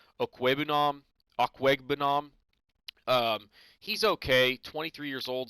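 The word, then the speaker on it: Okwuegbunam: And then Albert O, I believe it's pronounced Okwebunam.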